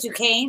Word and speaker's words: Duquesne: Is that how you say it, Duquesne?